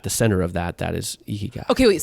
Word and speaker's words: ikigai: So this book, I believe you pronounce it Ikigai. Ikigai.